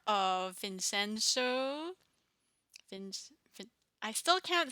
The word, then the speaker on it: Vincenzo: I hope you enjoyed our reaction to episode 3 and 4 of Vincenzo.